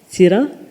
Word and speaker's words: Seera: Seera. It's spelled S-E-E-R-A.